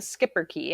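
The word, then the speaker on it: schipperke: me r.i.p sush a skipper key so if you look up the skipper key and it's spelt really weird it's s-c-h-i-p-p-e-r-k-e but pronounced skipper key it's this tiny little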